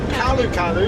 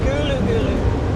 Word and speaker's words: Karlu Karlu: I've always pronounced it Karlu Karlu. It's Gulu Gulu.